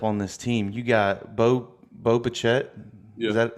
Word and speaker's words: Bo Bichette: You got Bo Bichette. Yeah, Is that how you pronounce it? It's Boba Fett. Yeah, Um, it sounds like Boba Fett, like the guy from Star Wars, but that's not who it is.